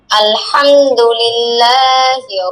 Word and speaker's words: الحمد لله: আলহামদুলিল্লাহিল্লাযী, আলহামদুলিল্লাহিল্লাযী, الحمد لله আলহামদু الحمد হামদু হা হা গলার মাঝখান থেকে।